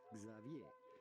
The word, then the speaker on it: Xavier: it would be pronounced X is pronounced like s h but in English-speaking countries this is normally pronounced Xavier zavier or Xavier that's